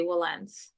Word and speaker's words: Wilentz: will okay I mean some people pronounce it like that will but you know I think for the most attorneys here we just say Wellens well oh yeah I